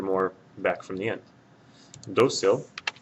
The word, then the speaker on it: Dócil: Dócil will have an accent mark over the O because the stress is right here on this syllable and it ends in something other than a vowel N or S.